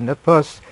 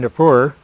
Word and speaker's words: Nippur: Now, John Morris, Ph.D., has reported on the actual earlier Babylonian tablet from the city of Nippur, which dates in Nippur, either way you want to pronounce it, which dates to about